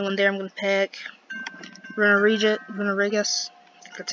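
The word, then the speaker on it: Runerigus: Runarigus, that's how you pronounce it.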